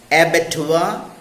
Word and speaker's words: abattoir: See some other wrongly pronounced words in English: reservoir, boudoir, abattoir, repertoire. They are correctly pronounced as reservoir, boudoir, abattoir, repertoire, and so on.